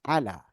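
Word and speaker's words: على: Biasanya kalau alif maksurah itu dibacanya dengan huruf fathah. Contohnya, kalimat ala, ala, ala.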